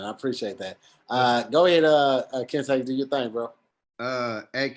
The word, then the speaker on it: Kente: Oh yeah, Kente like the cloth. Kentescott. So Kente like the cloth, Scott like Byron.